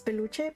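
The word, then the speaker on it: peluche: I I know that it's beluche, but like I had a brain fart moment and I just I couldn't think of the word.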